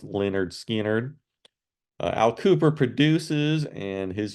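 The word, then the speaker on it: Lynyrd Skynyrd: they did back uh on this debut album pronounced Leonard skard Al Cooper produces and his use of mellotron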